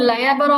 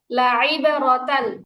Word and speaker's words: لعبرة: إن في ذلك ليبغة لمن يخشى আপু লাইয়াবরা হবে না, লাইবরা, আইনের উচ্চারণ হবে। إن في ذلك ليبغة لمن يخشى লাইয়াবরা হচ্ছে কেন? আইনে যে লাইবারাতাল, লাইবারাতাল, লাইবারাতাল লিমান ইয়াখশা, لعبرة لمن يخشى লাইবারাতাল لعبرة লিমান ইয়াখশা।